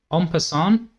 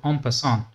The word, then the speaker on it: en passant: So here black can actually capture this Pawn like this and it's called En passant, comes from French so you can use French pronunciation if you can. 'En passant', something like that.